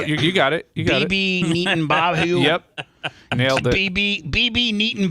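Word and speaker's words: Netanyahu: BB Neaton Bahu.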